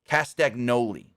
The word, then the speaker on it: Castagnoli: but it's it's actually if you say it phonetically it's castagnoli or Cali however you want to say it